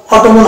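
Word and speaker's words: autumn: দেখতে পাই এম এন এই যে এম এর পাশাপাশি আছে তাহলে এন এর এন টা সাইলেন্ট থাকবে পাশাপাশি এন এন থাকলে এন টা সাইলেন্ট হয়ে যায় তাহলে এটার একচুয়াল উচ্চারণ হবে এটার উচ্চারণ প্রোনাউন্সিয়েশন এটার একচুয়াল প্রোনাউন্সিয়েশন হবে ওয়াম তাহলে এখানে আমরা সাইলেন্ট হবে এন এবার চলে আসবো নেক্সট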